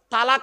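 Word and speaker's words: طلاق: ঝগড়া হোক বা বিভিন্ন কারণে স্বামী তার স্ত্রীকে তালাক দেয় ঠিক না বেঠিক শব্দটা কিন্তু তালাক নয়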